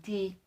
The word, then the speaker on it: ti: usar para indicar vida porque ambas se pronuncian ti en sumerio una cana para indicar